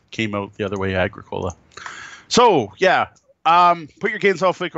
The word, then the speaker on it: Agricola: I think it's supposed to be Agricola. Agricola, I think, is the proper term. I probably should have been trying to pronounce that right. Not Agricola, because we're not growing coke.